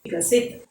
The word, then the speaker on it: विकसित: We don't want to add this swaradhvani a when we pronounce it. Okay. V, E, V, K, A, K, S, E, ह्रस्व E, C, T, A, Ta. Vikasit.